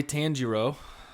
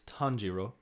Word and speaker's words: Tanjiro: yep and uh yeah our boy tanjiro that's how wrong that's how we say it down in the south but if we want to say it properly it's tonjiro we can call him